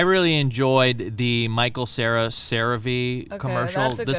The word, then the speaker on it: CeraVe: Because I used to call it Cera.